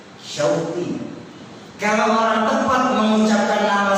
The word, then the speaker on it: Syauqi: Contoh dalam bahasa Arab, nama saya yang diberikan orang tua saya adalah Syauqi. Terdiri dari huruf shin, waw, qaf, dan ya. Syauqi.